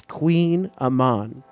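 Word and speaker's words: Kouign-amann: popular French P pastry Queen Aman comes from the Breton language word for bread and blank and I did look up how to pronounce that earlier because I had no idea that's Queen Aman all right sh that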